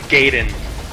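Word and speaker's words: gaiden: well gyen and I I am pronouncing it like like an American nerd instead of like the old school 80s kid saying Gayden properly uh gaen means Side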